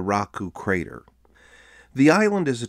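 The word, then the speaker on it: Raraku: and that's the Rano Raku crater the locals make fun of how tourists can never say it right I had a guide once say in an American accent Ruku one specific Clan controlled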